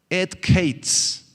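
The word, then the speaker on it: עת קץ: Esa palabra, son 2 palabritas hebreas, ETH, et, y luego otra palabra que es QEITS, et kates.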